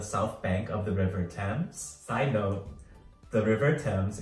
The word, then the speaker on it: Thames: There's also the iconic London Eye, a giant Ferris wheel on the south bank of the River Thames. Side note, the River Thames is spelled T-H-A-M-E-S, but pronounced Thames.